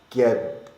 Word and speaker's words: Xketcz: It looks like it says Xketcz. Because the way I was thinking about it, it's like okay, you get the X and the K to make the sk sound, right?